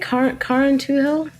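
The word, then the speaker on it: Carrauntoohil: were you pronouncing it car into hill correct it's an irish word it's a karen tool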